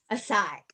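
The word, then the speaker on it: açaí: a ceo ace oh a cyber a size a sai yes i didn't know how to say that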